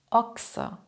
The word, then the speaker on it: Ochse: Das CH spricht man dann nicht mehr wie gewohnt, stattdessen klingt es wie X. X. Sprich mal nach. Ochse, Wachstum, Lachs, Fuchs, wechseln, wachsen.